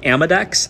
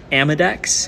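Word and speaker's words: Amodex: uh yeah Mike um there's a product called amadex it's spelled a-m-o-d-e-x amadex if someone wants to type that out in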